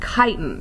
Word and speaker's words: chitin: the next word is chitin pronounce it tighten with the K don't pronounce the CH or you might get in trouble so chitin this isn't